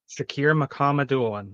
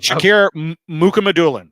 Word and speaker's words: Shakir Mukhamadullin: Shakir Mukhamadullin. That's the one name I thought. Shakir Mukhamadullin, I believe.